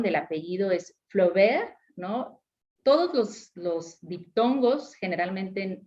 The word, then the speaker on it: Flaubert: pronunciación del apellido es Flaubert, ¿no? Todos los diptongos, generalmente en francés, tienen un solo sonido. Entonces, el caso de AU, el sonido es de una O, tal cual, la O del español, ¿no?